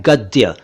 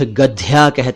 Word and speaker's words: गद्य: खाद्यान एक शब्द है गद्य कई लोग इसे गद पढ़ते हैं कुछ लोग गद कहते हैं तो कुछ गद्याल हैं सही उच्चारण है गद्य गद्य इसी से बना